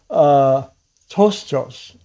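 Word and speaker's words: πτωχός: So tostos, what that said, the P is silent.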